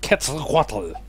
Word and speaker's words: Quetzalcoatl: And that is how you pronounce his name, Quetzalcoatl.